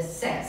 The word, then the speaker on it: says: Olha a pronúncia, não é seis, né, Marcelo? Não é seis, é says.